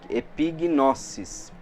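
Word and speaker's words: ἐπίγνωσις: Então epignosis, né? Epignosis. Aí tem até aqui, eu coloquei a pronúncia, tipo pi fica mais forte, né? Epignosis. E lembrando que o S no grego não tem som de Z, tá?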